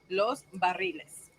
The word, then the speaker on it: Los Barriles: That's how I pronounce it. Diane and I can agree on it. Los Barriles. It's like Los Angeles.